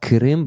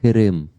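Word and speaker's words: Qırım: The letter Q has to be pronounced like k, k. Ah, It's like K sound, but like from the back part of your tongue, like close to the throat.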